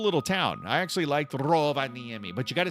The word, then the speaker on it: Rovaniemi: I actually liked Rovaniemi, but you got to say it like that. You got to say it like the Finnish people say it. Rovaniemi.